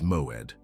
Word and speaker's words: moed: The word is moed. Two syllables.